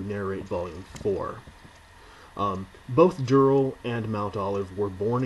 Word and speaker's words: Durrell: friends family members and every single one of them said Dural so that's how I'll be pronouncing it from now on um if anyone has